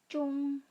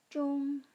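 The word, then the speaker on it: zhong: Bagaimana pelafalan huruf ZH? Iya. Cung. lidah kita dilipat kemudian disentuhkan ke langit-langit mulut. Saya ulangi ya. Cung.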